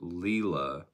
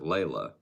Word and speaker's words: Leela: Interesting that you pronounce it Leela. Because I know someone that spells it the exact same way and pronounces it Layla.